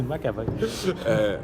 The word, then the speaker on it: McAvoy: Puis, tu sais, James McAvoy, lui, je sais prononcer son nom. McAvoy. McAvoy. C'est McAvoy.